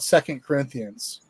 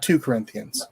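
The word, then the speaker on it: 2 Corinthians: kind of like dude it's called it's called second corinthians not two corinthians right it's not like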